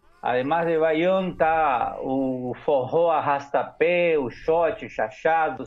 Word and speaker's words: forró: Forró, pero agudo. Forró. Forró, exactamente, con acento en la última O.